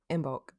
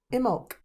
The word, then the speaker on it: Imbolc: And today we're going to be talking about, can I pronounce it right? Imbolc. Imbolc.